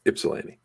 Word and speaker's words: Ypsilanti: just it it's it's it's not it's pronounced like an eye it's ipsilanti ipsalini oh excuse me